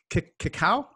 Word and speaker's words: cacao: And I want to talk about cacao.